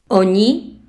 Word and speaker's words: oni: Oni. Il. Oni. Elle. Le N du premier est mou.